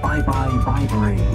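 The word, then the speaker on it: Bibury: how to pronounce it but you remember byebye Viber help you out there sometimes at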